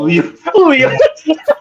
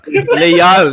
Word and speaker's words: Leal: So Leo. Leal, not Leo.